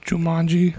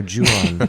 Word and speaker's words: Ju-on: It's the It's pronounced Jumanji. no Ju-on. It's the Ring.